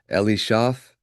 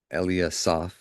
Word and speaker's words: Eliasaph: of Ekran, Phagiel, there we go; of Gad, Elishaph, Eli, Eliasaph, please forgive me, the son of Reuel, or Raguel.